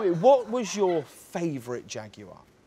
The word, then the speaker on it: Jaguar: So tell me, what was your favourite Jaguar?